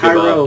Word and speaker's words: Cairo: there's a Think Cairo. about Minneapolis. There's a Cairo, Georgia, but it's not Yeah.